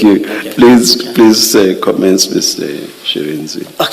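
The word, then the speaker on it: Shirindzi: Shirenzi.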